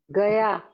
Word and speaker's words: Gaia: How you pronounce it? Gaya.